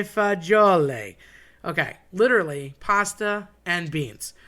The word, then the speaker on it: fagioli: I've heard people say fazool. That's probably the most common. I've heard people morph it every which way.